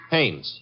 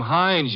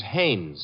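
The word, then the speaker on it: Haines: Hannes. H A I N E S. Ah. Oh, Hannes. Yeah. Do you know him? Well, there's a fell named Hines used to fish.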